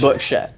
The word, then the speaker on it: Berkshire: It's Berkshire. Wait. I didn't remember what the real word was. Berkshire.